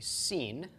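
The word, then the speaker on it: שׂ: our English sh-shut and if the dot is to the left then it is a seen and it is pronounced as an S just like the some ik and sometimes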